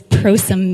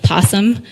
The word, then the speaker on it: Prosum: lot is what does prosím mean or people will pronounce it possum it's and it's a